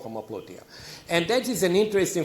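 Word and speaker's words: homoploutia: You've in your forthcoming book, you write about a new concept called homopluteia. Am I pronouncing it correctly?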